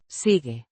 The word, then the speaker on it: sigue: Sigue Means continues or keeps on. Pronounced sigue. the Ge is soft as in gem.